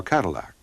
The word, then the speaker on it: Cadillac: French Adventurer antoan damat kadak or Cadillac as his name is pronounced in English had been sponsored by